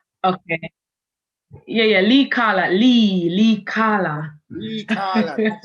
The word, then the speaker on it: Leicala: Have I pronounced it correctly? Okay. Yeah. Leicala.